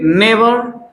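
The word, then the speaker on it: never: गया तो इसके लिए नेवर और उच्चारण को भी याद रखना है, र नहीं बोलना है, नेवर, बस अ का साउंड आएगा।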